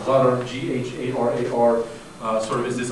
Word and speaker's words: gharar: This idea in Arabic, this is pronounced gharar, G-H-A-R-A-R, sort of is this idea that speaks